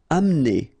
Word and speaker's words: amener: Amener. Don't insist on the E here because you don't really pronounce it.